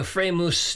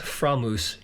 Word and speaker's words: Framus: George Harrison is playing a Freimus 12-string hootenanny. It's actually pronounced Framus in German, but that's how we pronounce it in America.